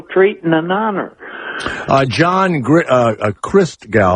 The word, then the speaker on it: Christgau: John Christgau, am I saying it right? Christgau? Yeah, that's it. Like Christ and then.